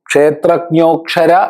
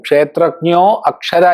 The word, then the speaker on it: ക്ഷേത്രജ്ഞോക്ഷര: മുറിച്ചു പറയുമ്പോൾ ക്ഷേത്രജ്ഞഹ അക്ഷരഹ ചൊല്ലുമ്പോൾ ക്ഷേത്രജ്ഞോക്ഷര എന്ന് ഒന്നിച്ചു തന്നെ ചൊല്ലണം പലരും ക്ഷേത്രജ്ഞോ അക്ഷര എന്ന് ചൊല്ലാറുണ്ട് അങ്ങനെ ചൊല്ലാൻ പാടില്ല കാരണം ക്ഷേത്രജ്ഞോ എന്ന് ഓ ഉച്ചാരണം വന്നാൽ പിന്നെ അവിടെ അകാരം ഉച്ചാരണം വരില്ല അത് പ്രത്യേകം ശ്രദ്ധിക്കേണ്ടതാണ് പലരും